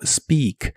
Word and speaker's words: speak: Primero, el verbo speak, que significa hablar, como en hablar inglés. La combinación de letras EA de esta palabra se pronuncian como una I larga o doble.